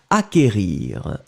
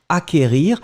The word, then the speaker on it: acquérir: qu une accent aigu r ir d'accord donc acquérir acquérir le sait qu en fait vous ne prononcez pas vraiment de 2,2 vous n'allez pas